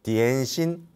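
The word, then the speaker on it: 点心: 다양한 종류의 딤섬이 있잖아요 그게 홍콩 발음이 디엔신 점심이라고 하는 디엔 신의 홍콩 발음이 딤섬이 아아 마음의 점만 찍고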